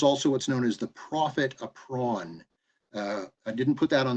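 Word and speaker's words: profit à prendre: It's profit, so Profit, and then a with a little apostrophe over the top, prond, Prendre, profit a prawn, it's pronounced. It's a law French term.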